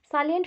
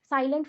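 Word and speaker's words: salient: ठीक है, फिर नेक्स्ट देखो, सालिएंट features of एनईपी 1986। सालिएंट मतलब क्या है? इंपॉर्टेंट, इंपॉर्टेंट फीचर्स, और कुछ मत समझना। साइलेंट फीचर नहीं बोला, सालिएंट बोल रहा है, इंपॉर्टेंट फीचर्स है।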